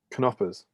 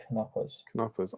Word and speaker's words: Knoppers: And Frederick says, "Yes, it's pronounced Knoppers. There you go. Yeah, there you go. K is not silent. Knoppers.